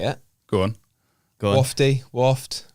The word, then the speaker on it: Wofte: at the end yeah it is silent E silent let's put that's